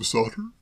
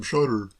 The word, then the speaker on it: Shotter: Sam Sotter? If you prefer it that way, certainly. I've always pronounced it Sam Shotter myself.